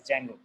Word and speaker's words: Django: So D is silent here and we just call it as Django, right?